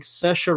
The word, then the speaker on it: Saoirse: comedy-drama film directed by Greta Gerwig and starring Saoirse Ronan I think I've nailed that pronunciate you have nailed that positions Laurie Metcalf